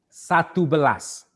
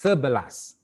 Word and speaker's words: sebelas: for the 11 you you're not gonna say satu balas it is wrong we don't say satu balas okay but we say serverless okay pronounce it as serbalas and then to do a doer you say do a blast for 12.